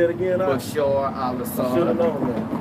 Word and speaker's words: Bashar al-Assad: Bashar al-Assad.